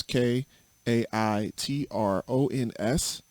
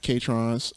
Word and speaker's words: Kaitrons: uh this word chitrons k a i t r o n s it's pronounced kaitrons not catrons uh not ketones uh not croutons nobody